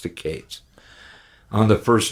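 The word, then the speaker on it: Katz: name Matthew Cates it's spelled k-a-t-z but he pronounced the case on the first L airplane album he managed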